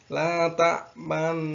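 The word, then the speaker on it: لا تأمنا: Jadi yang dinamakan ismam itu adalah memoncongkan mulut pada kalimat la ta'man. Nanti silahkan dilihat. Untuk kalimat ismam dulu, la ta'manna.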